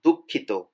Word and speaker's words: দুঃখিত: It's a little bit difficult to pronounce. It's দুঃখিত, দুঃখিত, দুঃখিত, দুঃখিত.